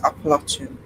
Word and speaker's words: Appalachian: Uh different depends on the region you're in. Uh, it's not in the Appalachian, it's Indiana. But to be honest, both ways get no matter how you pronounce it, apparently the correct is Appalachian.